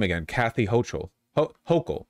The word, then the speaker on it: Hochul: Kathy Hochul. Hochul. It's got to be Hochul, not Hochul.